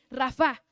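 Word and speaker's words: רפא: Pues esta palabra sanar viene de esa palabra Rafa, Rafa, más bien se pronuncia así, Rafa. Y Rafa quiere decir arreglar, restaurar, reparar, recuperar.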